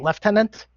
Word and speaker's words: lieutenant: mentioned the the uh the British pronounced the word Lieutenant they pronounce it leftenant for some reason okay uh there's also